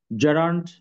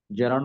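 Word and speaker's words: gerund: তো এখানে যেটা বলেছিলাম যে জেরান্ড হচ্ছে ভার্ব, জিরান্ড বলবো না, জেরান্ড, হ্যাঁ, নাউনের মতো আচরণ করে।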